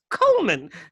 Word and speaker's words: Goldman: some confusion oh yes coleman the d is silent in america it's it's kodi isle